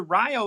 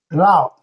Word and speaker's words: Rao: Dr. Ryo, is that right? Rao. Rao.